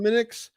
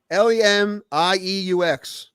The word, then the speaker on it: Lemieux: Mario Lemix. How to spell it? Lemix. Lemieux. Lemieux? I didn't know how to say it.